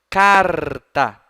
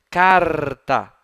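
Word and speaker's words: charta: Chácara chapéu não não o ch em latim tem som de k observem vou pronunciar papel em latim Olha só carta Olha o r como a linguinha vibra dentro da boquinha carta carta tá então se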